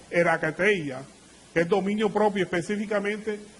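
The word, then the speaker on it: ἐγκράτεια: Templanza es un término que viene según el diccionario Strong griego, que se pronuncia como erakateia, que es dominio propio, específicamente dominio contra o continencia contra los deseos de la carne.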